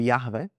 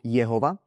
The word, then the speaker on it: Jahve: A teda ako som povedal ľudia buď hovoria alebo vyslovujú toto meno ako Jahve alebo Jehova. A ja budem teraz proste používať meno Jahve.